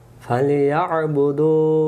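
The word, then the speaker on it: فليعبدوا: এই যে দেখতেছেন এই অক্ষরটা পারি না, এই অক্ষরটা গলার ভিতর থেকে আদায় করতে হবে। আমরা বলি ফাল ইয়া বুদু, না এভাবে না। ফাল ইয়া বুদু, ফাল ইয়া বুদু, দু এক আলিফ টান দিতে হবে, এই অক্ষরের সাথে নিয়ে যেতে হবে।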